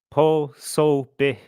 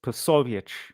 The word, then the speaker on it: Povich: Dude says po. Yes. And that would be completely fine for an Anglo, but it's povich.